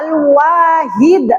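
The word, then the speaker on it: الواحد: Yang ketiga ada alwahid. Bagaimana cara membacanya yang benar?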